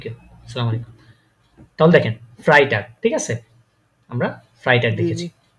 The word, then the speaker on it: Freitag: G কি হয়েছে Freitag ফ্রাইটাগ Freitag হ্যাঁ ফ্রাই এই যে ই আগে তারপর আয় পরে তাহলে কি হয় ফ্রাই হ্যাঁ ফ্রাইটাগ Freitag হ্যাঁ ফ্রাই বা একটা কলার ছিল তো তার জন্য লিখলাম আর কি।